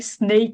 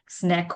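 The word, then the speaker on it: snake: এই একই কারণে স্নেক উচ্চারণ হবে, স্ন্যাক হবে না।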